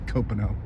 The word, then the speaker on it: Copano: And the correct pronunciation is Copano. I've heard all different variations of that lately.